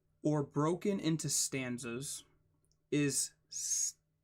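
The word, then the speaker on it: stichic: Or broken into stanzas is stickic. It's literally stickic. S-T-I-C-H-I-C. Stickic. And poems of unrhymed stickic lines written in regular meter are known as blank verse.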